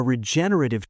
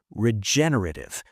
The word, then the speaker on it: regenerative: By the way, let's practice saying that word: regenerative. The stress is on the second syllable, regenerative. Regenerative.